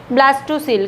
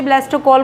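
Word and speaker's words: blastocoel: ब्लास्टोसील, कई बच्चे ब्लास्टोकॉल बोलते हैं, जो भी बोलना चाहो बोल दो, स्पेलिंग ठीक होनी चाहिए।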